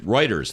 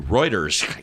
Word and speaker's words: Reuters: to a fire risk router Reuters I always pronounce writers Thank You Reuters you never get that right reuters reported the